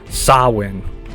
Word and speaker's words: Samhain: origins of Halloween is the jtic Festival of sawin it's usually spelled um s a m h a i n but is pronounced as sa now for those who don't